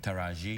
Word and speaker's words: Taraji: going right you got it right taraji I like how you say it's very musical